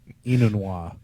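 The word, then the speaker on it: Enunwa: So now I get to try to pronounce his name. I believe Quincy Inunwa. Inunwa.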